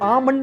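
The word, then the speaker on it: almond: ये डेट में बी और आमंड में एल साइलेंट क्यों है, और लेफ्टिनेंट में लेफ्ट कहां है?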